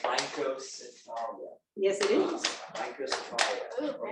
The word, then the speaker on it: Rhynchocephalia: It's pronounced Rhynchocephalia.